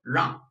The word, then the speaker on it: 让: And then on, try them together. So that will be Asia, Z, Sean, Jean. So 让, 让, fourth thought.